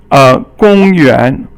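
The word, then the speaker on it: 公园: 公园 Gong is first tone, yuan is second tone.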